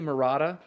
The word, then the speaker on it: Maratta: meet you now Julie how are we pronouncing your last name correctly Morata yes correct okay it looked like